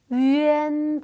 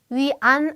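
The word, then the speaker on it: yuan: 아 위 중에 하나니까 자 어떻게 발음이 된다 위엔 발음 위안 아니에요 위엔 자 밑에 보시면은 요렇게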